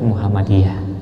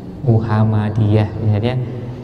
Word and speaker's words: Muhammadiyah: tidak mengucapkannya begitu Universitas Muhammadiyah Muhammadiyah m-nya satu padahal tulisannya jelas double hal-hal seperti ini sampaikan